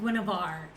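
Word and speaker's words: Guenhwyvar: and he has a cat named guinevar it's spelled so bizarrely so i never know how to spell it but that's how the guy says it on the audio version so i have both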